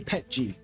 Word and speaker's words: PETG: Yeah, that's right, I say PETG. Letters are meant to be read, not pronounced.